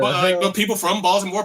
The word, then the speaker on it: Baltimore: Baltimore. That's how we pronounce it.